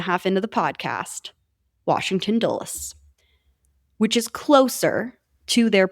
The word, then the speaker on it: Dulles: I know how to pronounce that word. Year and a half into the podcast, Washington Dulles.